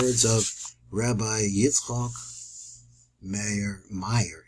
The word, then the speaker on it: Myer: of Rabbi yok mayor Mayer he pronounced it Meer moras